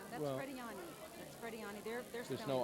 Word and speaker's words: Frediani: Linda Fredian, F-R-E-D-I-A-N. Okay, we're missing an N. I. You're pronouncing them. That's Frediani.